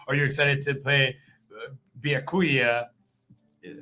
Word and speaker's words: Byakuya: Are you excited to play Byakuya Yeah, I said it right.